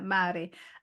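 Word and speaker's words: Māori: around them them them is it the Mari people it's descri as how you pronounce it isn't it yeah Mari um yeah it was absolutely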